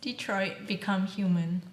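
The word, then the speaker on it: Detroit: Become Human: it right am i it's Detroit become human that's like a colon in between there so it's like Detroit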